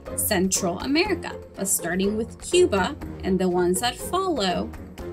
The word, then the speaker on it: Cuba: So this country is often referred to as Cuba, but in Spanish, the correct way to pronounce it is Cuba.